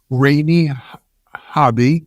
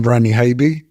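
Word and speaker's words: Ranny Haiby: In addition to myself, I'm happy to be joined by Rainey Hobby, and if I got it wrong, Habe is how I pronounce. Rainey, pronounce it for us so we get it right. Hi, I'm Rani Habe.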